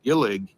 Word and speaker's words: Gillig: Well, the interesting thing is this bus, I believe it's pronounced Gillig, they have the entire fleet for Toledo.